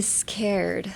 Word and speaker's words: scared: Also, it is written in a C, but you pronounce it as a K.